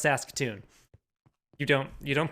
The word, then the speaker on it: Saskatoon: be like how do you pronounce that it's pronounced saskatoon you don't you don't pronounce it that way